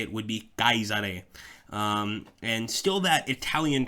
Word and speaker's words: Caesar: won them um and the truth is that's how you would say the name it would not be Caesar the way we say it today close it wouldn't exactly